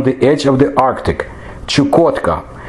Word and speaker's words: Chukotka: the Chukchi Peninsula chukovsky Paulo Osterman Russian or Chukotka that's how I'll pronounce it it belongs to the permafrost zone